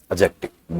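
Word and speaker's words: adjective: डी is silent. अब बोलो एडजेक्टिव। D silent है इसे।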